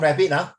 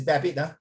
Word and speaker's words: Babbitt: Not rabbit, it's Babbitt. Don't disturb people's Irving name. Babbitt. A theory? How do you pronounce again? Never mind, just ignore this. It's pronounced Babbitt.